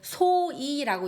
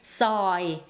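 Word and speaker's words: ซอย: 카오이 가오이 카오는 들어가다 서이는 골목 카오이가 카오이카 자 보통 한국어로이 서위를 바꿨을 때 소이라고 이렇게 많이 적을 거예요. 하지만이 오와 어의 중간 발음을 정확하게 서이 카오이카 하면 골목으로 들어가세요라는 뜻이 되겠습니다.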